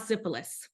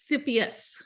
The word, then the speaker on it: Sisyphus: I thought it said syphilis. It's not syphilis. It's Siphius. Let me say it right.